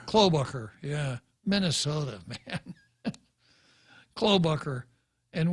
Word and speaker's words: Klobuchar: How do you pronounce that name? Klobuchar. Klobuchar, yeah.